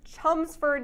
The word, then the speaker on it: Chelmsford: you grew up in chums fir'd Massachusetts it's spelled like Chelmsford yeah you make you might know Chum for now I Jack Eichel